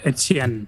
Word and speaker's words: Etienne: Make sure I'm saying it right. Etienne? Is that how you... Etienne. Etienne. Okay, I was close.